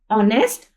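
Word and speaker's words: honest: इसी तरह देखिए एच ओ एन ई एस टी ऑनेस्ट ऑनेस्ट read किया जाता है। एच यहां पे हमारे पास साइलेंट हो जाता है। ये राइट तो होता है लेकिन इट it can't be pronounce.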